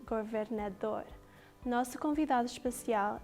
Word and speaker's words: governador: And the word is pronounced governador.